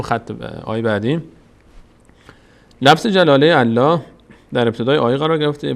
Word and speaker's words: الله: فتحه می‌گیره الف و وقتی هم که الفتح می‌گیره اینجا پر خونده میشه اینجا پر خونده میشه میشه الله اللهیستهزئ بهم بهم بهم